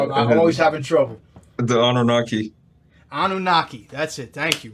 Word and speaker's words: Anunnaki: What's the best way to pronounce this, man? I'm always having trouble. The Anunnaki.